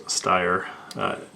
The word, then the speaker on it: Steyr: german way to pronounce steyer an s before solid consonant like a t generally is pronounced with an sh type sound you saw i put